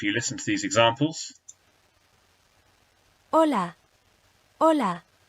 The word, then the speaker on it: hola: Hola, hola, Hugo, Hugo. Hasta pronto, hasta pronto. Okay, and as you can hear, there is no sound from that H by itself at all.